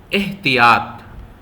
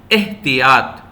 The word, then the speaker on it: احتیاط: کا دوسرا لفظ ہے احتیاط۔ غور سے سنیے، احتیاط۔ دیکھیے الف کے نیچے بھی زیر ہے اور تے کے نیچے،